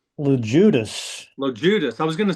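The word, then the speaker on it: Loguidice: LeJudas.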